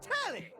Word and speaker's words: Telly: The name's Tally. Rhymes with Nelly. LIKE, WHOA, NELLY.